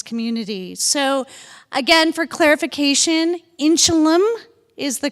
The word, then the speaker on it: Inchelium: And we had some a little bit of outcry from our campus that we were mispronouncing the name of um the inchelum center. For years we pronounced it inchelium and we were corrected